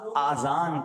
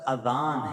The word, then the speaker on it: اذان: بعض لوگ آذان کہتے ہیں, یاد رہے پہلے اذان کہتے کس طرح ہے, اس کا تلفظ سے بچ لیں. آذان اذن کی جمع ہے, اذن کہتے کان کو, یہ آذان نہیں ہے, یہ لفظ اذان ہے, ٹھیک ہے.